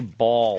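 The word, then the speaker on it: Baals: Yes, Harry Balls. And it's Harry Balls. It's spelled B-A-A-L-S. That's balls.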